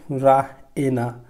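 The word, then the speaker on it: Raina: রায়না শি প্রোনাউন্সেস ইট রাহ এনা, সে রায়নাকে pronounce করে এইভাবে রাহ এনা, রাহ এনা এরকমভাবে, হ্যাঁ। শি প্রোনাউন্সেস ইট রাহ এনা with the stress on দ্য E, double E এর উপরে সে স্ট্রেস দেয়, ঠিক আছে।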